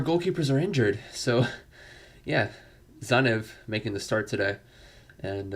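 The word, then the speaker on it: Tzanev: it the entire way uh yeah it's zanev i said womanly keeper at first because i'm like how do you pronounce his name uh zanev t-z-a-n-e um again our second to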